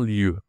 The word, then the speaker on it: lieu: Attention, la prononciation ici c'est le e. J'ai fait une vidéo sur les voyennes, nésite pas à aller la voir. On dit un lieu.